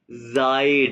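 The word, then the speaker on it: seid: कहोगे कहते इया तो मैं कैसे कहूंगा इया जायड ये क्या है?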